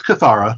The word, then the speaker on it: Kathara: It's Kathara. I mean, it's a TH. It's meant to be th, not t.